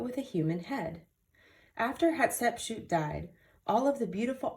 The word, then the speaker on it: Hatshepsut: in front of her temple her name is pronounced hatshepsut what exactly is a sphynx a sphynx is a statue of a lion's body but with a human head after hatsepchute died all of the beautiful artwork including the